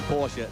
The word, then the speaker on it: Porsche: Well, if you're American, it's Porsche. If you're a German, where they come from, it is Porsche. They do pronounce the last E, but it always sounds somewhat affected if one says it over here.